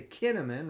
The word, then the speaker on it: Kinnaman: And finally, Daniels comes up big, and he completes that to Kinnaman, rhymes with cinnamon.